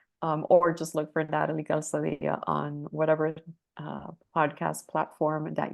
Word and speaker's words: Calzadilla: it's Calzadilla in Spanish, Calzadilla if you're not Hispanic.